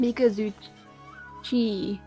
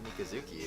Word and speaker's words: Mikazuchi: B, not Ki. How is that not Mikazuki? It looks exactly like Mikazuki. It's CHI. It's G. That sounds like a forced pronunciation, though. Mikazuchi? Like, no. I've never heard that name pronounced that way before. CHI is a chi sound.